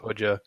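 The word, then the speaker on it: Hoxha: talking about the Albanian Communist dictator hoxa2 it's pronounced haja and that means like like master in Persian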